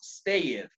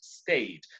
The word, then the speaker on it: stayed: And don't forget the pronunciation of ed. Again, this one, don't pronounce stayed. You have to pronounce stayed.